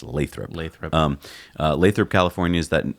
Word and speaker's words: Lathrop: about what's going on in Lathrop and that's pronounced Lathrop Lathrop Lathrop California is that is that kind